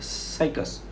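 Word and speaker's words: Cycas: ऐसी अगर साइकस इसका प्रोनाउंसिएशन करेक्ट है, साइकस।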